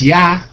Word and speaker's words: Yah: Most High is Yah, Y-H-W-H, Yah, that's how it's pronounced, then I understood what the name of the movement should be.